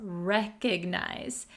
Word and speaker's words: recognize: Recognize. Be careful with the pronunciation. It does have an O here, but we're going to pronounce it recognize. Recognize, not recognize, okay?